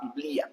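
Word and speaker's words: Библия: Y acá en ruso dice Biblia, o exacto, B-I-B-A-I, y acá esta letra significa I y después A, Biblia se pronuncia.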